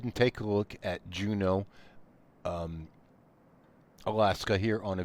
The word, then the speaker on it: Juneau: Here is Juno. I'm pretty sure I'm pronouncing that correctly.